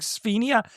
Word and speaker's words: Sdenka: There's the younger sister whose name is her name is Sphenia or something. Yeah. They pronounce it like Sphenia. It's spelled Sdenka.